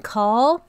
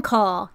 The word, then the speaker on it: Kahl: go all right so I'm pronouncing his name as in call okay because it's Gordon call ka HL have a